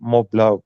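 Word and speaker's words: Montblanc: I used to be a Mont Blanc collector, Mont Blanc, which is its proper pronunciation.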